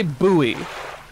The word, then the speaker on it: buoy: They don't say buoy. Apparently Americans are weirdos for saying buoy. Why else would there be an O in it if you're not meant to pronounce it differently from the word boy?